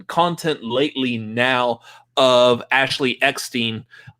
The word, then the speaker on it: Eckstein: I've seen content lately now of Ashley Eckstein. I even get pronounce her name properly now. I used to say Ashley Epstein, but I've seen images